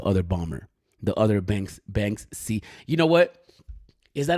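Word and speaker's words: Banksy: like oh you're saying you're pronouncing it wrong it's Bank c not Bank ski and yo you're right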